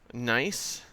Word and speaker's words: gneiss: Here we get into metamorphic rocks, slate, phyllite, schist, gneiss, which is spelled with the silent G and not at all what you would think.